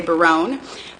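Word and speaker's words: Berowne: i'm looking at biroon it's pronounced varun most of the time some people like to say barone but i'm looking at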